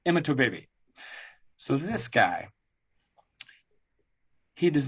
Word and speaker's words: Imatorbhebhe: And yes, his last name looks crazy, but that is the pronunciation, Imatorbhebhe.